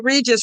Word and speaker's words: Regis: say Regis rhymes with Jesus, Regis rhymes with Jesus.